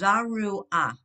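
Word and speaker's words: זרוע: zaruha, It's zaru ah. okay, Because your zaruha, ayin is a silent letter.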